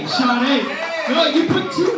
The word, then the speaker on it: Sade: Jade, right? Jade? It's Sade.